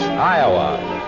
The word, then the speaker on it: Iowa: in the poorn song other people call it iow and they're both just a little bit wrong Iowa it's a beautiful name when you say it like we say it back home it's the Robin in